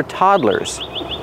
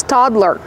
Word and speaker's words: toddler: equipment is designed for toddlers how do you pronounce toddler the first syllable is the open a sound like hot and stop T toddler toddler two syllables one toddler two toddlers